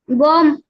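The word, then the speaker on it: bomb: बी ओ एम बी बॉम्ब म्हणजे बॉम्ब बॉम्ब आता आपण हा उच्चार बॉम्ब करतो ब चा उच्चार करतो शेवटच्या परंतु शेवटचा जे बी आहे ते कसा आहे सायलेंट आहे बॉम्ब बॉम्ब यस नेक्स्ट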